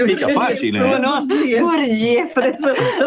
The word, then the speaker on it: Gurdjieff: Georgiano, Gurdjieff, sì. come lo pronunci tu? Non lo pronunci mica facile. No? Gurdjieff, adesso lo pronuncerò anch'io così.